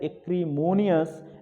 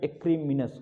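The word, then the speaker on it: acrimonious: ये लिखा गया है एक्रीमोनियस, लेकिन इसका शुद्ध प्रोनाउंसिएशन एक्रीमिनस होगा।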